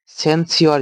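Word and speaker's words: censure: আছে আর এখানে কি আছে সর আছে কিন্তু উচ্চারণ কি হবে সেন্সর আর এটা হচ্ছে সেন্সর ঠিক আছে এবার দেখ কিভাবে মাথায় রাখব সেন্সিওর যেটা মানে সেনসিওর বলব এটাকে আমরা যেহেতু সিওর আছে তাহলে মনে রাখ সহজ হবে।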